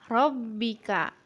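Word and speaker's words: رَبِّكَ: Selanjutnya, Rabbika. Ini sama, huruf bertasydid dibaca rangkap atau ditekan.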